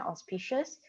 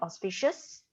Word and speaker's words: auspicious: For Yi, watch out for the pronunciation, auspicious. There's an S behind auspicious.